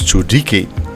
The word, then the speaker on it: Tsoelike: For example, Tsoelike is not pronounced with an L but with a D, so it's pronounced as Tsoelike.